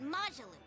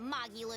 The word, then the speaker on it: Majulu: No, we're talking about Majulu, not Mulu. Got the name wrong. You know Lulu, the famous dancer. She actually goes by the majestic Lulu, but everyone calls her Majulu.